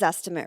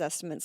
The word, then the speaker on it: Zestimate: So I think the number one question number one question is this estimate right? No. Never. You know in fact the guy it literally rhymes with the word estimate.